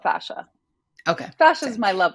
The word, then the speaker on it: fascia: It can be either. I mean, some people say fascia or fascia. I call it fascia.